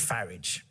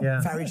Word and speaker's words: Farage: foreigners, Europeans, so much, do you go for the Huguenot-sounding pronunciation name, Farage like garage, and not Farage like garage?